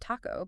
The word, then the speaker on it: taco: in English gotcha so say the word Taco but imagine that t is almost like a d so Taco almost like a like a taco yeah yeah it's a